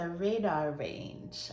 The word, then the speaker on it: Radarange: microwave cooking book, and it was for the Radarange. I chatted with my mom and she said that's how to pronounce it.